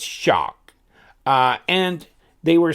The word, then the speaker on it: XOC: the XO C and the way they were pronouncing it was shock like almost like shark but no are in there so it's shock and they were saying